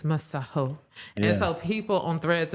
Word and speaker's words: Masego: It's a South African name. It's Maho."